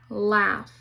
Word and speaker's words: laugh: F also has a trigraph, which is UGH. It says F, like in laugh. The U is silent.